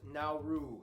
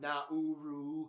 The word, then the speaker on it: Nauru: Yes, it's pronounced Nauru, not Nauru.